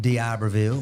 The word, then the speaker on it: D'Iberville: D'Iberville.